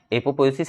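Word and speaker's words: apoptosis: एपोप्टोसिस आप समझ लो, लेकिन यहाँ पे टी साइलेंट है, ठीक है। अब पढ़िए, मैं अगर टी हटा के लिखूँ तो आप इसको पढ़िए एपोपोएसिस, ठीक है, तो यहाँ पे टी छुपा हुआ है पी के बाद, तो वही टी साइलेंट है यहाँ पे।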